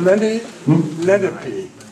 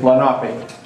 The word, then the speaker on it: Lenape: Around here, I have always heard him say Lenape. That's what the way we say Lenape. It's the English way of saying it.